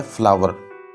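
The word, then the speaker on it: flour: दोस्तों कुछ लोग इसको फ्लोर कहते हैं, लेकिन असल इसकी जो प्रोनाउंसिएशन है वो है फ्लावर।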